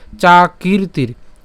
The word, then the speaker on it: চাকীর্তির: এখানে দেখেন যে দুইটা রেফ, এই প্রথম রেফটা ক দীর্ঘিকারের সাথে উচ্চারণ হবে, এবং ময়ের উপরে যে রেফটা আছে, এই ময়ের উপরে রেফটা হচ্ছে ত রস্বীকারের সাথে উচ্চারণ হবে। তাহলে উচ্চারণটা কেমন হচ্ছে? চাকীর্তির, চাকীর্তির।